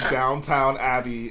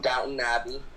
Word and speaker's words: Downton Abbey: You can't get mad at Jedi Bob for saying Downtown Abbey and then pronounce it Scala. Downton Abbey.